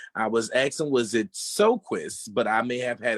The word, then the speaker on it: Sjoquist: I was asking, was it Sjoquist? But I may have had it wrong. So could you tell me the correct pronunciation of your last name? Yes, it's Sjoquist.